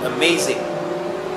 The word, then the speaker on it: amazing: There are 3 sounds in the word amazing. So the stress syllable is on the second syllable. Amazing.